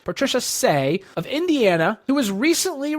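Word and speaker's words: Cseh: was logged by Patricia Say, I think is how you pronounce it, C-S-E-H, Patricia Say of Indiana, who was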